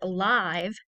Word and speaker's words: live: Notice that this is spelled the same way as the word live. However, this has the short I sound in it.